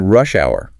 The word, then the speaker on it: rush hour: They redefine rush hour with specific morning and evening times, noting the stress on the first word because it's a compound noun.